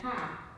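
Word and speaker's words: ห้า: In Thai, 5 is pronounced as ha, like H-A.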